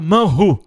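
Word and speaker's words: מן הוא: É pronunciado manhu em hebraico.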